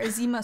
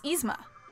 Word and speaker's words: Izma: Or Izima swore. Izma. Yeah. Izma. It's Izma. I've been pronouncing her name wrong.